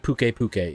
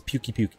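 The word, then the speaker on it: Pukei-Pukei: to it no dude you're mispronouncing it pukey puke ease I don't like pukka pukka its pukey puke it's a pukey puke guys we have to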